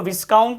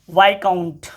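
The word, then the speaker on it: viscount: ठीक है जैसे देखो ये शब्द है, इसको विस्काउंट नहीं पढ़ेंगे, वाइकाउंट। वाइकाउंट मतलब होता है पद, विस्काउंट बिल्कुल मत पढ़ना, वाइकाउंट मतलब पद होता है।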